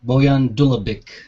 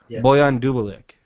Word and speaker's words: Bojan Dulabic: how do you pronounce your name um bullion uh boyan boyan dulabic boyan double dulabic boyan dubalek not the easiest i'm fully aware don't worry well you know it's funny because i have to pronounce it the way you pronounce it so i give you like a basterized version of your own name so it's like bullion